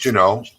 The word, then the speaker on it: Juneau: But from Juneau, you could drive. I think you said it Juneau. Is that how they say it? It's Juneau. The locals. Juneau.